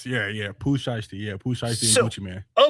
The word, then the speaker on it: Gucci Mane: So, I pulled up a story on USA Today and it's spelled Gucci like Gucci, but it's M, but he goes by Gucci Man.